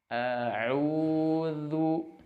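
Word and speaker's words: أعوذ: A'udzu. Nah, zal sebelum mengucapkan dhammah hendaknya si posisi makhraj itu standby terlebih dahulu, baru pengucapan dhammahnya keluar. Zu seperti itu. A'udzu.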